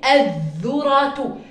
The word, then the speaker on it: الذرة: خلينا نيجي هون على كلمة الذرة: الذ الذرة الذرة. هنا الأل لا تلفظ، بقفز دائماً على الأل.